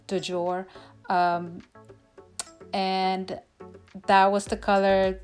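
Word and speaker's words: du jour: her this word but i believe it is pronounced dujour and that was the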